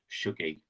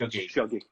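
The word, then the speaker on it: Shuggie: say it wrong, in Sugary. I'm trying. You are doing really well. I always tell people it sounds like huggy. So if that helps you, so it's just Shuggy.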